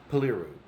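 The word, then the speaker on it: πληρόω: Paliru.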